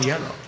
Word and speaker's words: hielo: It's spelled a little different than yellow. It's but it sounds just like it.